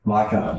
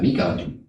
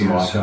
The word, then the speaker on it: Micah: Micah. Micah. Is that M-I-C-A-H? Okay. I thought you would have pronounced that Mika. No, my wife chose the name. Okay. It's just Micah.